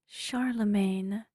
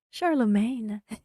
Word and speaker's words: Charlemagne: have a couple more ahead of me it's pronounced Charlemagne oh yes it reminds me of uh the